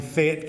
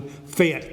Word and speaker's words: Fayette: Down in Fayette County, and I'd remind you, Fayette is one syllable, not two. Fayette County, not Fayette.